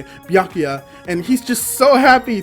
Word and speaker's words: Byakuya: I'm fairly certain that's how you say it, Byakuya, and he's just so happy to see his son.